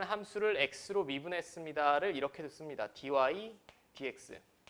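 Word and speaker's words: dy/dx: 제가 어디서 촌스럽게 예전에 특강할 때도 말씀드렸는데 이거 dx분의 dy라고 읽으시면 안 돼. 이건 분수를 나타낸식이 아닙니다. 절대 공대 교수님 앞에서 dx dy라고 읽지 마.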